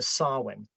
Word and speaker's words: Samhain: famous of these were swin swin by the way if you're listening to this isn't spout how how it sounds it's spelled s a m ha a i n so if you want